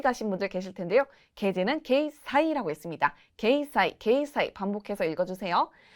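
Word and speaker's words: 掲載: 게제는 게이 사이라고 했습니다.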